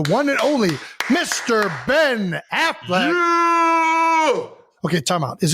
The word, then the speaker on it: Affleck: I mean, it's definitely ECK, but I feel like everybody pronounces it Ben Affleck.